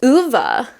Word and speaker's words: Ove: world yeah I read a man called UA is apparently how you say it cuz I listen to